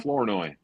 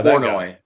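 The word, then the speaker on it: Flournoy: Florenoi. Yeah. Florenoi.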